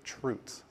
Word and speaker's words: chroot: We call these chroots or truts, depending on your pronunciation.